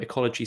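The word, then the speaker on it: Ecologi: we work with a business called ecology um ecology spelled with an i not a y at the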